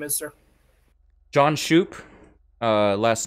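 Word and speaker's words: Shupe: asking now what your name is sir john shoop uh last name is spelled s-h-u-p-e s-h-u-p-e yeah yeah john shoe i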